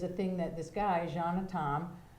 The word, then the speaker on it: Can: And so portrait meet is a thing that this guy, Jean Tom, It's spelled C-A-N, but you say Jean.